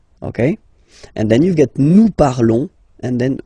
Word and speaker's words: nous parlons: Okay, remember final s is not pronounced. Okay, and then this on together, they will give you the sound on. Okay, nous parlons, nous parlons.